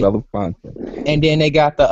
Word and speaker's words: Belafonte: Harry I don't know how to pronounce the Henry brother. Belafonte. Yeah, Henry Right. Belafonte.